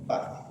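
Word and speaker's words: puff: ¿Cómo se escribe PAF? P-U-F-F. Ese es diferente. P-U-F-F. Pero se dice PAF.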